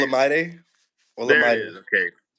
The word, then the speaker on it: Olamide: Olamide.